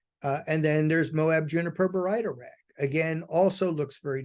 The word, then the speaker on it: baryta: So baryta is the correct pronunciation, but some people call it barita, some people call it baryita, some people call it barda.